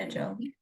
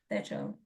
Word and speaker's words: Tejal: there's two different types of T's. There's a hard T, ter, and the soft T, which is not in the English language, like pronounced the. So I actually should be pronouncing my name as Tejal, but I don't know.